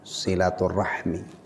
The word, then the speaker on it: silaturahim: Bab keutamaan silaturahim, atau biasanya diucapkan silaturahmi.